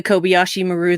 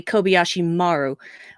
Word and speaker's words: Kobayashi Maru: I figured it was probably a simulation, like the Kobayashi Maru that you didn't know was happening. So, right. Excuse me, it should be actually Kobayashi Maru, which is the correct way to pronounce that,